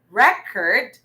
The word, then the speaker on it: record: record okay or record a while back we had record this time record meaning it's a verb okay so the syllable stress is in the second syllable good job guys yohenna